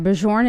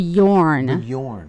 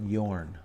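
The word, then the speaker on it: Björn: all right um Atomic Mt said uh FYI bijorn is pronounced Bjorn I think but Yorn yes but Yorn okay but Yorn learn something new appreciate that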